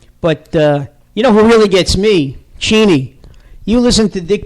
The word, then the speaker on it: Cheney: Cheney. You listen to Dick Cheney talk about...